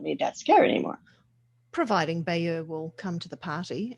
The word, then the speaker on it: Bayer: We say it Bayer, accent on the Bay, Bayer.